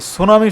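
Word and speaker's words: tsunami: এন এম আই সুনামি মানে টিটা উচ্চারণ হবে না এটাই মনে রাখবেন ঠিক আছে সুনামি অফ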